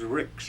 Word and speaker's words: Ricks: you want me to spell that? My middle initial is M, and my last name is Ricks, R-I-C-K-S.